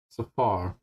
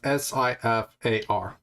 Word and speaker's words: Sifar: Safar. Safar. Yes. It's Sifar. For no purposes. Okay. Just to make sure, I'm spelling it phonetically right quick. Sierra, India, Foxtrot, Alpha, Romeo.